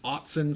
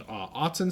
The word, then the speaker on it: Autzen: I think it's pronounced Autzen Stadium. Pretty sure it's Autzen Stadium.